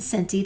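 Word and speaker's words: centi: desie cinti and Millie remember that the Soft C sounds are to the right desie and cinti they come together and the hard K sounds are to the left kilo and deca also don't forget that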